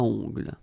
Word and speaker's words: ongle: Okay, O-N, remember, nasal, ongle.